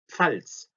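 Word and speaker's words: Pfalz: 자, 요게 발음이 상당히 어려운데 PF가 붙어 있으니까 P하고 F가 같이 가 있어서 팔츠입니다. 팔츠.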